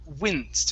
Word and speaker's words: winced: First up, let's practice the short I on winced instead of winced. Okay, short I.